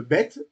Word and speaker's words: Bet: Alors, et la lettre bête, on disait, se prononce B ou V. B ou V. Voilà. S'il y a le point, c'est B. Et s'il n'y a pas le point, c'est V.